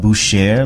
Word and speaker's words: Butcher: There's a place called Boucher, and it's spelled butcher, Butcher, but I guess it's called Boucher, like the Colbert Report and things like that. It's French, I believe.